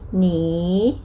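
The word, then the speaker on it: 你: ออก เสียง หนี หนี เนอ อี นี หนี หนี ตัว นี้ อ่าน ว่า หนี นะ คะ หมาย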